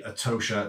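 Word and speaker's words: Etosha: number five would be a Tosha National Park in Namibia or atosha depends how you want to pronounce it to be able to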